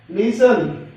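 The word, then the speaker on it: listen: Often, T silent है, लिसन, लिसन में भी T साइलेंट है, सोफन, T साइलेंट है।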